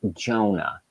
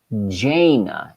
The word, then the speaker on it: Jana: Her daughter's name is not Jonah. Her daughter's name is Jana.